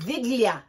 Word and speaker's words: Wigilia: Oh, Viglia. Viglia. They pronounce W's like V's.